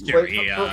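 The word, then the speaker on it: Juri: Is it Yuri or Jury? Because I see the J, but I've seen people pronounce. I've seen people pronounce it both ways. It's Jury for Street Fighter on that.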